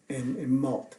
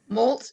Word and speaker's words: Molt: from Congregational Church in Malt. Am I pronouncing that right? Molt, just like the ducks do.